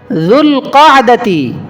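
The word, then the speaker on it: ذو القعدة: সাথে সম্পৃক্ত শাওয়াল শাওয়াল জুল কাদাতি জুল কাদাতি যেটা বলি উচ্চারণ এভাবেই জুল কাদা জুল কাদা জুল কাদা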